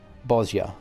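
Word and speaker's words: Bozja: tyranny of the empire i had been pronouncing it bhoja this whole time bosya bosya i would never presume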